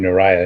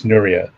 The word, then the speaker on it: Nuriyah: okay i apologize i i pronounced your name naraya it's nuria yeah that's okay you're definitely